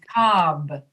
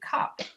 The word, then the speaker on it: cob: Yeah, you have to, with that B, you have to make the sound so that your listener will recognize that it's a B. So you say cob, Cob. cob, as opposed to cop.